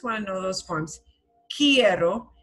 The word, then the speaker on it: quiero: Quiero, and it sounds like the word key, like a key you use in a door. Quiero. We don't pronounce the U in querer. that U goes not pronounced. It's one of the few letters that doesn't really, it's not quiero, it's quiero. So it'll sound like the word key with ero, tak tambien.